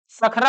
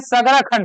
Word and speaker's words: सगरा खंड: बताया तो सगरा खंड नाम ठीक से उच्चारण नहीं होता जी सगरा खंड सखरा हो जाता है ऐसे है सगरा सगरा खंड ठीक से कौन सा है सगरा खंड है वही भतरा की अगर